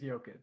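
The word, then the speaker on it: Jokić: I'm pretty sure it's pronounced Jokic because he's from Europe, so. It is Jokic.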